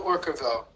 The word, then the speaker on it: Orquevaux: I'm going to mispronounce it. Tell us what it's called and how you got accepted. Chateau Orquevaux. Orquevaux.